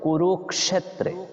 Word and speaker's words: কুরুক্ষেত্রে: বলবো ক্ষ তারপর এজন্য আমরা বলেছি ধর্মক্ষেত্রে এরপর কুরুক্ষেত্রে তারপর দন্তীয় স যেটা এটাকে আমরা সই এইভাবে উচ্চারণ করব এস ও স যেভাবে হয় এইভাবে